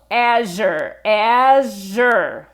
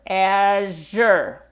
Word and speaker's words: Azure: Okay, so Azure. To go slower, Azure.